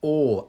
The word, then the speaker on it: awe: one of you on how you pronounce or a-w-e or or it's the same pronunciation as o r or exactly the same that's one of the wonderful things about the English language lots of words but many of them had the same pronunciation so a w e